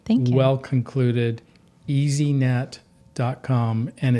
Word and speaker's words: Easeenet: But it is spelled a little funny because we make your online life easy to see. That's how you can remember it.